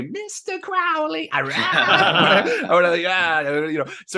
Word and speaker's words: Crowley: I'm retraining myself to say Crowley because apparently in a poem he rhymed his surname with unholy. So Right. it is Crowley. Of course, I want to say Mr. Crowley.